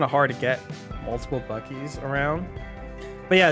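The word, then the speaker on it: Buc-ee's: trip I over buses no not busies buckies Bucky's it's not pronounced bussies you have and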